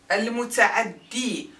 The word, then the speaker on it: المتعدي: المتعدي has the يا in its end.